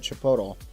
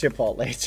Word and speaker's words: Chipotle: No, you guys have never had Chipotto. Wow. Yeah. Oh, sorry. I mispronounced it. Chipotle. Am I mispronouncing it? Chipotle. Chipotle. Chipotle. Oh. Chipula. Chip. Aunt Lee. Chipotle. Am I pronouncing it right? Bad. Please stop messing. I I'll stop. It's Chipotle.